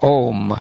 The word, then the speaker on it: Om: You are the shelter of the syllable Om, which consists of three letters, A-U-M.